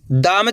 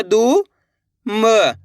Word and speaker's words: दुम: ऐसे नहीं पढ़ना आपको, दूम। अगर आप दूम पढ़ दोगे तो इस तरीके से बड़ू की मात्रा का उच्चारण हो जाएगा।